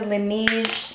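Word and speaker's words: Laneige: my absolute favorite lip product has been the lineage is how you pronounce it the sleeping mask this definitely can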